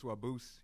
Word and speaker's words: Wabuz: It's Wabuz, and that means rabbit in Ojibwe. Okay. Well, like it's like pronounced the same, and I think in like